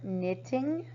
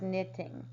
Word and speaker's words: knitting: The word knitting. Now remember the K is silent. You double the T because your I is a vowel, so it's a vowel consonant. The word is knitting.